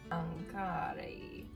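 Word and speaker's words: ankare: Try to say every letter in that word. Ankara. Ankara. Ankara. It's the anchor.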